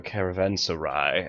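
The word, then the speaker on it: caravanserai: building a caravansery or a caravansai as I've heard it pronounced before.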